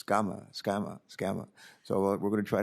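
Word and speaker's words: Sgamma: And her name is spelled S-G-A-M-M-A. I wanted to call her Sagama, and she says, no, it's Scama.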